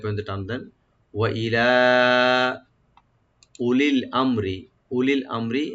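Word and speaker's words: أولي الأمر: ওয়া ইলা উলিল আমরি, উলিল আমরি এখানে আলিফের পর হামজার পর যে ওয়া আছে এটা ওয়াটা উচ্চারণ হবে না, সাইলেন্ট থাকবে।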